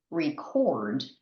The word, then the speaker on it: record: But when we use this word as a verb, the intonation is different. It's to record. So the emphasis or the stress is on the first syllable in the verb.